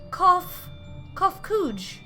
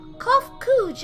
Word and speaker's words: Kofkuj: As for nomenclature to address my individual person, I believe it would be pronounced Kofkuj. Yes, Kofkuj of the Ea.